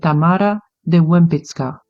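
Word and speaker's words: Tamara de Łempicka: sculptors of the world Tamar de Lim or if we go with a Polish pronunciation of her name which is the accurate one we say Tamara de wmit she was born in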